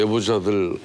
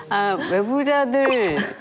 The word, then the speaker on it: 외부자들: 예, 저 방금 애무자들 그러신 줄 알았어요. 아니 저는 애부자로 들었어요. 사랑 많은 사람들. 제가 늘 이렇게 외가 잘 안 되시는 것 같아요. 열 발음에 늘 문제를 지적해봤습니다. 외부자들 최초예요.